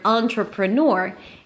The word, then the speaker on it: entrepreneur: So, the first syllable in this word, the word entrepreneur, is the syllable, the sound a on. On. Think about it as the word on. turn it on. Or think of it as a n or a a n. On. Okay. Definitely not an e. It's not an e sound.